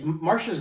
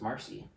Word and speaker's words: Marcia: yeah her so it's Marsha's right that's the Marsha is the correct pronunciation she's Mara Marcy Marcia